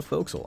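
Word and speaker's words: forecastle: is it floor castle it's spelled for castle uh but people call it a foxhole i like to call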